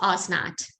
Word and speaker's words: Osnat: The Hebrew, hold on, let me pull up the Hebrew, is Osnat, right? Because there's no TH actually in Hebrew.